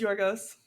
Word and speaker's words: Yorgos: Yorgos Lanos. How do you say his name? Just like you did. Wow. Amazing. Nailed it. First try. Yeah. Thank you. I It is Yorgos.